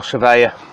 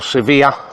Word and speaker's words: Svea: three are there was the original surveyor or severe let's pronounce it properly the original severe was the one two